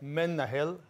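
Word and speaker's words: מנהל: being able to pronounce menehal in hebrew we help our students to remember it how for instance if they associate that men nahil a man from hell okay so the easy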